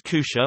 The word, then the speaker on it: kutja: pronounced as kusha or kama, kamastaga used instead of apparently.